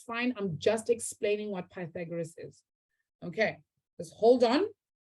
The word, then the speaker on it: Pythagoras: side well done look at that camouflage like pythagoras i love it that's how you pronounce it this longest side of this triangle